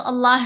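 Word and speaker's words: الله: आ गई होगी अच्छा जी उलद अल्लाह लफज़ अल्लाह की लाम को यहां हमने मोटा पढ़ना है।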